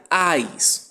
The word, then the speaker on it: eyes: Essa palavra se pronuncia eyes, ok?